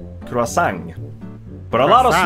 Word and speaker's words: croissant: In this case, we pronounce the last bit of the word, even though it's a French word, which should be removing a lot of consonants.